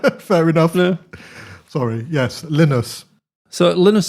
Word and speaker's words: Linus: Linus, I made sure to say it right.